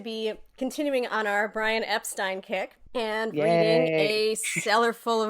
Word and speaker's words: Epstein: If you missed it, we posted a special mini-sode about how to pronounce Brian's last name, which is obviously Brian Epstein.